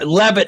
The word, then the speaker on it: Leavitt: But yeah, Carolyn Claire, is it like Leavitt? Leavitt? Yeah, that's Levitt. Yeah. Levitt is how it says it's pronounced.